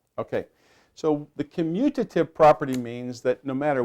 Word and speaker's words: commutative: you say the word commutative now some people like to say communitive but it's not communicative and the key word here is commute now does anybody here